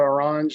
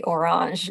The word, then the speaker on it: Orange: So in this case, I know you say Orange, it's very fancy, but Orange and Nokia. The French pronunciation, right?